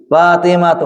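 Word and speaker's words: فاطمةُ: Fatimatu. Kenapa Fatimatu? Tidak tanwin bacanya.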